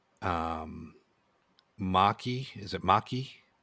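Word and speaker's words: Macha: Um Maki is it Maki? Maka Maka.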